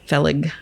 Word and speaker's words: Fellig: would be him so Arthur felling was his name or feeling it might be feeling phage f e l l i g I'm very bad with pronouncing words but felig I think it's felig so he was basically